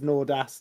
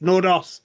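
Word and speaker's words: Nordås: Um, he's got the It's just a little O at the top of the A.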